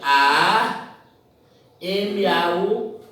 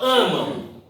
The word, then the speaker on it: amam: Porque o M tem o som de U. Você diz amam, amam.